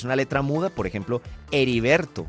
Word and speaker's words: Heriberto: Por ejemplo, Heriberto. No cambia nada la pronunciación de Heriberto, a pesar de que tiene H.